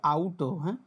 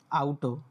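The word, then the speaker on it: Auto: আও আও তাহলে হচ্ছে কি? গাড়ির ডস হচ্ছে আউট। আউট।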